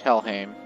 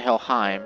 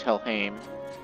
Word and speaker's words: Helheim: Fun fact, the sword we got is pronounced Helheim. It's not Helheim, it's Helheim.